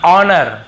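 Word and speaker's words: honor: देखिए ऑनर, हम इसे क्या पढ़ते हैं, ऑनर, ठीक है, हॉनर नहीं पढ़ते हैं, एच नहीं पढ़ना है।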